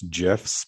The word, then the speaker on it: GIF: I'm pushing back on GIFs, by the way. It's GIFs, but no, you're wrong. I'm going to leave this podcast. It is a hard G.